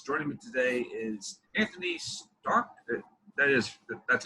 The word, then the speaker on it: Starke: brian m davis joining me today is anthony stark that is that's how you pronounce the name right yes all right because